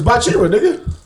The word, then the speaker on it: Bachira: names some people do say his name wrong it's bachira I